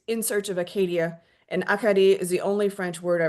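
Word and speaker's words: Acadie: Say it in French. Akadi. I repeat the unfamiliar pronunciation. Akadi, putting the emphasis in different places than the English Acadia I'd been using.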